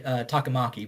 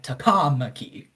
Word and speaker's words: Takamaki: It's more like there's just more emphasis. Okay. So like most people with brain would say Takamaki, but for some reason they're like Takamaki for some reason.